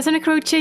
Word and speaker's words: Santa Croce: a beautiful last name especially if people know how to pronounce it in Italian which would be Santa